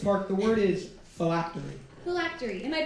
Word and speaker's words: phylactery: of Virginia this park the word is flatly phylactery am i pronouncing that correctly yes thank you can I